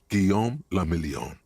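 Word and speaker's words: Guillaume Le Million: Guillaume Lamillion. If it doesn't rhyme, you're not pronouncing it right.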